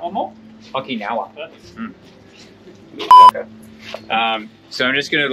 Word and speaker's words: Okinawa: Okinawa. Okinawa. Okinawa. One more? Okinawa.